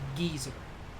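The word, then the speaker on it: geyser: it at one point but yes it is pronounced geezer i have always pronounced it that way and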